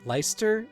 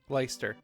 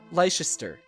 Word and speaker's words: Leicester: how they say at leister Alliance Leicester alliance it's weird because it's pronounced totally different than it's written leister it should be like lie sister that there is an